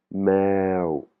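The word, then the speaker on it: แมว: Par exemple, pour dire chat, c'est avec une voyelle longue, on a le "e" qui est deux fois, donc ça va se prononcer meo meo, hein, c'est un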